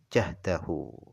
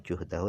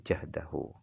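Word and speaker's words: جَهْدَهُ: Nah, cara baca juhdahu ini bifathil jim la ghair, dengan difathahkan jimnya. Jahdahu. Berarti bukan juhdahu tapi jahdahu. Difathahkan jimnya.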